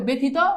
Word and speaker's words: ব্যথিত: অস্বীকার আছে না নাই তাহলে এখন জফলার সাথে আকার বসাবা প্রশ্নই আসে না শুধু জফালা বসাবা না এখন জফালা এককার হয়ে যাবে তাহলে দেখো ব্যথিত ব্যথিত ব্যথিত দেখো তো এই